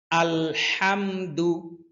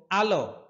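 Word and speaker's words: الحمد: একবার পড়ে নিব আলহামদু হাম হাম হা কণ্ঠনালীর মধ্যখান থেকে উচ্চারণ হয় হাম বলুন আমার সাথে সাথে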